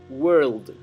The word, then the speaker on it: world: eleven nuevamente world road pronuncien claramente la de final de la palabra world xi del mundo a veces cuesta pronunciar la la de final de una palabra cuando estamos en una oración porque para comenzar a pronunciar la siguiente palabra tendemos a a ser imperceptible la consonante final porque nuestra lengua el español tiende a eso pero hay que ser cuidadoso con esto en el inglés the way we think